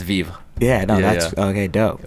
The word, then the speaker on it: Vivre: with you I didn't know that's how you pronounced it oh you're good and most people don't yeah it's Viva yeah no that's okay dope which means to